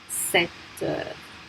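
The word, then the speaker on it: sept heures: And remember that we don't pronounce that P. 7h.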